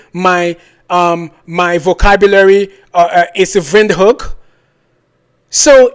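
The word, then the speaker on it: Windhoek: to windhook and he said it is not pronounced windhook it is ven hook I was like okay African German thank you for correcting my um my vocabulary is vind hook so it's weird to me why the government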